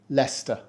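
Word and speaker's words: Leicester: correctly it's a classic we pronounce it Lester we don't say Lester or Lester and the trick here again is to ignore 2third of the letters why write them if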